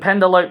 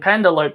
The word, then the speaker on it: Penelope: They keep pronouncing it as Penelope Ford, but I just say Penelope Ford because you know, E is supposed to be silent. Because I was always told at school the E is silent.